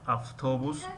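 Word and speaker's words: автобус: مثل کلمه اوتوبوس می نویسیم و افتوبوس می خوانیم.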